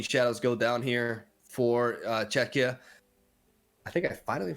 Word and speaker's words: Czechia: We see a Stocky Shadows go down here for Czechia. I think I finally pronounced it properly.